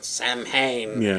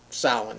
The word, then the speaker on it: Samhain: he wrote he wrote samhain but they say samhain and stuff and it's like yeah we we know that it's pronounced salon dudes all right so yeah the school the